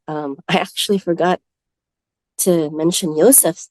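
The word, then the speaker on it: יוסף: But that's the 12th son, Yosef. And it's pronounced this way, whether in the modern Hebrew or ancient Hebrew tongue.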